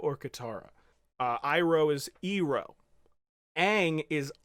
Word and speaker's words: Aang: and then he did it he pretty much mispronounces everyone who isn't Zuko or Katara Iroh is zero Aang is wrong what what the